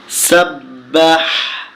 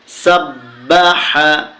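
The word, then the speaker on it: سَبَّحَ: শিখবো বিসমিল্লাহির রাহমানির রাহিম সাব্বাহ সিনে জবর বা এয়ে তাশদি সাব্ বা জবর বা হা জবর হা সাব্বাহা হা এটা গলার ভিতর থেকে উচ্চারণ করতে হবে সাব্বাহা সাব্বাহা লামে জের লামে তাসতি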